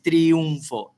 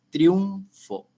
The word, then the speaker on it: triunfo: un segundo Sí sí dice que que la palabra es un diptongo porque se lee pegado Esto entonces tiene dos sílabas digo vamos a vamos a no es triunfo es triunfo Entonces esto vamos a